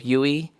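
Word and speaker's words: Duy: Uh think of me when you do a Uturn. So, Yui for the first name.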